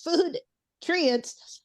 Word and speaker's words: FoodTrients: I'm saying it correctly it's like food ingredients but it's food trients because Grace o I